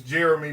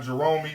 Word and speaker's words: Jeremy: kate king uh uh most people don't know how to say my name my name is jeremy not jeromey not jerome it's jro me it's just got an eye in it my mama wants to